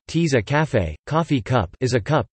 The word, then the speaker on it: tasse à café: A tasse à café, French pronunciation, tease à café, coffee cup, is a